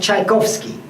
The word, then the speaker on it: Tchaikovsky: Like writing the name of Tchaikovsky, There is a T at the beginning. The sound was cha, so the Russian merchants put a T on those boxes to recall to the name.